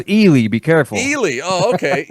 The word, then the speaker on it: Ely: me Jeff yeah well you grew up in Eli Nevada it's pronounced elely be careful elely oh okay elely Nevada is